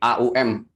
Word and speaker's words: Aum: Sebenarnya bukan om tapi aum, aum gitu.